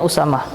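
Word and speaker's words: أسامة: juga Sama ya Usamah to akhirnya Usamah itu sebenarnya dia berada Entah marbutoh ya Usama tuh kita bacanya Usamah utama juga nama laki-laki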